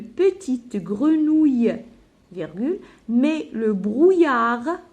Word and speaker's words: brouillard: Dans le buisson, virgule, Zinou voit une petite grenouille, virgule, mais le brouillard, je ne prononce pas la lettre D, mouille le feuillage, point.